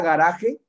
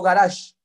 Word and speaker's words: garaje: El automóvil es a garaje, como avión es a. ¿Por qué dije garaje y no garage? ¿Por qué no dije garage? Porque para que fuera garage tendría que ser con G, garaje.